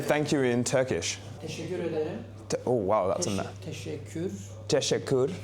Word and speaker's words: Teşekkür ederim: Teşekkür ederim.